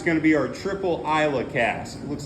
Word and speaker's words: Islay: number five is going to be our triple Isa cast looks like it says islay but it's pronounced Isa that one's kind of a scotch Meats B